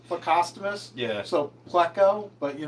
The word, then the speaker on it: plecostomus: Every time I hear it, it kind of hurts me a little. Cuz I'm pretty sure it's plecostomus.